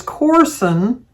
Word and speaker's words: Corson: She said it's pronounced like Orson, but it's Corson.